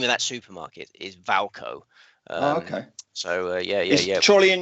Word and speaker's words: Wilco: And he pronounces Wilco Valco. It's Valco.